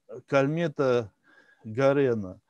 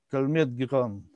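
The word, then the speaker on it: Calmette-Guérin: Ну, соответственно, на самом деле это французы, поэтому так как пишут в учебнике, это не совсем так произносится, но это так я вам для общего развития. То есть это Кальмет Гиран.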